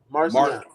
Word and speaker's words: Marciana: Marciana. Marky. Yeah. Marciana. Yeah. Like Biz Markie.